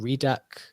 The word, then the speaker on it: RDAC: last week, they've got is it the RDAC token coming? REDAC? How do you say that? Redacted token coming, yeah.